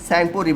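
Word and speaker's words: Tsangpo: तक चीन में राहत है तब उसका नाम साइन पुरी भर राहत है क्या नाम राहत है स्पेलिंग क्या है टी एस ए एन जी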